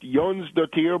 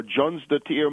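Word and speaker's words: Jónsdóttir: t TI i r it's pronounced yon doer more or less or Jon doer more in in English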